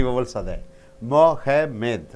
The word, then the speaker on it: Mohammed: When noun is there, you have to stress the first syllable. My name is Mohammed. Mo, that should be stressed. Mo, ha, less stressed. Med, still less stressed, right?